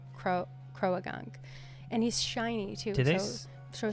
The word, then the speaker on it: Croagunk: that's uh Crow it crogunk I guess is the right way to say it but I always say Croagunk and he's shiny too